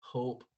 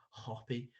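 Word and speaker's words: Hoppe: firstly we'll talk about another striker uh matthew hoppy and i thought it was hope but i believe that actually is pronounced matthew hoppy um an american international currently at majorca uh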